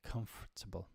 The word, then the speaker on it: comfortable: English comfortable comfortable okay comfortable I disagree uh it's so so easy to skip that tour sound but just because you're